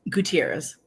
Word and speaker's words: Gutierrez: I say your last name again I'm sorry Gutierrez Gutierrez did I say it right or I